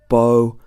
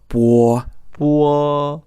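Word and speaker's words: 波: is B oh and if you are pronouncing this the same way as an English word you'd expect it to be said bow but actually it's war-war so it's almost like it's got a u in the middle it's almost like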